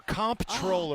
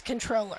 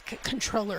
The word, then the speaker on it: comptroller: is it controller or comp controller the debate so it is spelled comptroller but the official way to pronounce it is controller okay we take it